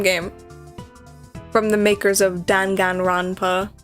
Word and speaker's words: Danganronpa: from the makers of don ganronpa and i'm like don ganronpa is not how to pronounce that i mean maybe in